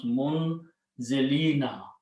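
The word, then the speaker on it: مُنْزِلِين: must change into one, and the sound, the waw change into a kasra sound, so it becomes a ya actually. So it becomes munzilina.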